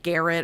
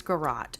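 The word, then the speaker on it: garrote: read it on the reddit reddit page like Garrett or whatever but it's pretty pronounce garat so it looks like this so you have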